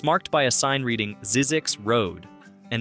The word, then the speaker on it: Zzyzx: It's marked by a sign reading Zzyzx Road, and if you pronounce it correctly, Z-I-E-Z-X, you're doing better than